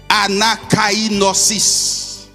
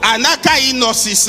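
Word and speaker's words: ἀνακαίνωσις: Le mot renouvellement vient du grec anakainosis. Anakainosis. Comme cela se prononce. A-N-A-K-I-N-O, accent circonflexe, S-I-S.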